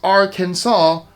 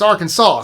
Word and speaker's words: Arkansas: It's our Kansas, not our Kansas. Or else. Say it wrong and you might get a polite correction. Hey, I saw you say our Kansas. Don't get sassy. It's Arkansas.